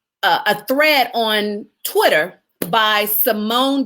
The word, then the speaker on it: Simone: her own mouth, that her name is really pronounced Simone.